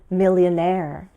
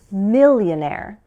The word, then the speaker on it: millionaire: Here's a fun word to say with stress at the end, as in millionaire. Or at the beginning, millionaire.